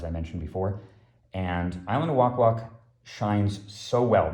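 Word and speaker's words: Wak-Wak: good um island of walk walk i believe it's pronounced that way i think i pronounced it wrong in the in the other video i actually had to look it up online it's from arabian nights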